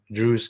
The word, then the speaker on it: Druze: Druze kids and not Jews kids. It rhymes.